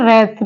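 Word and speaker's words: wreath: जैसे वर्ड है रप रप में ये डब्लू साइलेंट है वर्ड है रेथ रेथ मींस होता है माला फूलों की माला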